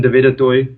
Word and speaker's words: Du Toit: just you know type in YouTube my name d toy everything will pop up there now for our younger listeners let me spell that out because uh it's not a name